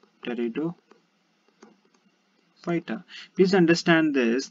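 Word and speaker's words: Pteridophyta: basically called as uh teredo fighter teredo fighter please understand this this p is silent over here and we have further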